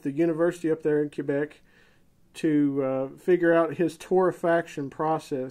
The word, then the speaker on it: Quebec: might not know and for most americans that don't know how to say it correctly it's quebec not quebec but i'll try to